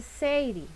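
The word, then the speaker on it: 整理: yo no hablo japonés, podríamos decir que la primera S se dice seiri, ¿verdad?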